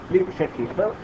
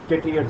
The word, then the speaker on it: Le Chatelier: आपको बता रहा था, उसका नाम ली, करेक्ट प्रोनाउंसिएशन शेटलियर, सर बोलते हैं, ली शेटलियर, बट हम आपके गुजराती लोग को चेटलियर चार्ज.